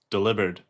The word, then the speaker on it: Delibird: Delivered. Like delivered. He delivers the mail.